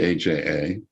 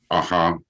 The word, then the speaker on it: AJA: common question that that comes up is it asha or aja now you'll notice i say aja because i believe that that's the correct the the correct pronunciation but we have but but everyone always